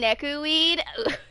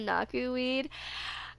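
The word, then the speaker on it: Nakuweed: want to know why I keep saying nekuine instead of naku weed literally it's spelled similar to neku if you know uh the Square Enix game the world is with you the main character is neku hey Liberty how you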